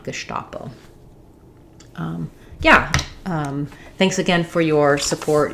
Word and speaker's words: Gestapo: it's so associated with the German that I do think people know to pronounce that correctly with the SH sound, Gestapo.